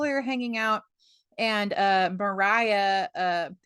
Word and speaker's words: Maria: And Mariah, it's spelled like Maria, but I'm pretty sure Oh they yeah, pronounce it that's right. It's Mariah. Mariah. It is Mariah.